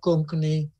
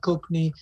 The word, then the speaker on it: Konkani: So let me give you an example of what Konkani, as it's pronounced in Cape Town. Konkani is the way it's said.